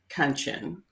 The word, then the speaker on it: Kanchan: I now say my name is pronounced Kanchan, rhymes with luncheon, in case you're wanting to know.